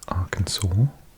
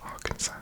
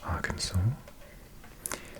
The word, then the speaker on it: Arkansas: I start mispronouncing things Arkansas definitely not Arkansas right Arkansas small white stars represent